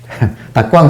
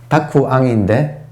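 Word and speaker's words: 沢庵: 여기 아주 간략하지만 택암선사, 택암이라고 하는 일본식으로 발음해서 닭광 선사가 발음이 한국 사람들은 이 발음이 맞는지 틀린지 모르겠어. 일본 발음에 의하면 그래도 하여튼 다쿠앙인데 우리는 닭광이라고 하지.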